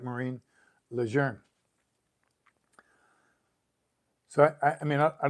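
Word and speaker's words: Lejeune: say it right Marine our name is leer spelled the same but pronounce different French right lour so this I think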